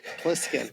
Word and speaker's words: Plissken: Was it Piskin? Did I say it wrong? It's Plissken. Plissken.